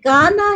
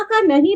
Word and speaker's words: गाना: अगर मुझे प्रोनाउंसिएशन गाना का नहीं पता है देन इट साउंड क काना है राइट तो अगर इफ आई वांट टू से कि मुझे गाना है आई वांट टू सिंग मुझे गाना है तो आपका प्रोनाउंसिएशन ग से स्टार्ट होगा ओके तो कम